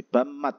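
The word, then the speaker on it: 밥맛: bamul air menanak nasi terus ada bab sama Mat hasnya gitu ya bab sama mat ada BB ketemu denganem miem itu dibaca m semuanya berarti Bam Mat asinya Bam Mat rasa nasi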